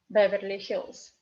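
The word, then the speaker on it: Беверли-Хиллз: Accent is on Y. Beverly. Beverly. So this Y we read like E because it's in unstressed position, and hills. Z in the end of the word is read like S again. And this double L we pronounce like one L.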